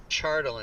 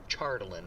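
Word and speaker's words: Chardalyn: chartland certainly defeats charlotte chardeline it's pronounced chardolin yes charlton can defeat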